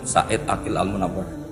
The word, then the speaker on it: Said Aqil Al-Munawwar: Memang bacanya harus urut, Said Aqil Al-Munawwar. Karena sekali salah, Said Aqil Sirat.